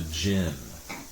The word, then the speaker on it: jinn: the book of the jinn well here no no like gin like gene although here it's spelled j i n n i thought it was